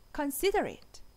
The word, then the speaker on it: considerate: Considerate. Considerate. Considerable. 둘 다 이음절의 강세가 있어요. Considerable.